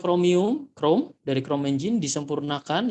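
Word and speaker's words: Chromium: Microsoft kini dikembangkan dari basisnya kromium bebasnya kromium bacanya kromium Chrome dari Chrome Zink disempurnakan ya Eh dikembangkan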